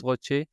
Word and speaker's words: ROCE: Après, si on regarde, le ROCE, ROCE, chacun le prononce, différemment. mmh, Je le mmh, prononce ROCE.